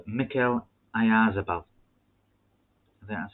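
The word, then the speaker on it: Oyarzabal: there's a young vlad at sociedad called mikhail ayazabal then that's how you pronounce his second name i isabelle um i've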